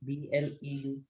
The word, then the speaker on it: bleu: Ma'am, how do you pronounce, ma'am? BLEU.